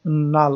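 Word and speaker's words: null: ওকে, আসলে নাল অথবা নুল যেটাই আপনারা উচ্চারণ করেন না কেন সেটা, কিন্তু লোকাল স্টোরেজে সেই ডাটাটা কিন্তু এখনো হচ্ছে পারসিস্ট করতেছে।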